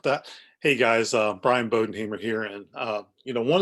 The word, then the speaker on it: Bodenhamer: lot of us are bodenhamer is very simple sounds spells out a lot easier than it looks a bow like it's on a present then what you may